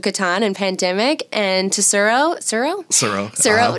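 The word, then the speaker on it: Tsuro: But she's actually the one that gave my parents Settlers of Catan and Pandemic, and to Suro, no T, and the T is silent.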